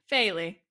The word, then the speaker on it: Faye Lee: And before every recording, we ask people, hey, we're reviewing Scott Pilgrim.Vs the World with Rich _makes and Faye Lee. How do you say that? Faye? Faye Lee.